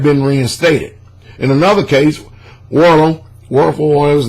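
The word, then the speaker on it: Wuerl: Werl, how you pronounce his name? W-U-E-R-L, initially questioned B-E-N-D-I-G-S accounts, but later accepted it and moved on to oust C-I-P-O-L-L-A from the priesthood. The Vatican highest court ordered Werl to restore the whole.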